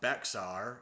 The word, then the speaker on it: Bexar: Disfigured and totally insane, she stayed mostly in rural areas of Bexar, or pronounced Bear, excuse me, because that's necessary, and terrorized anyone who approached her.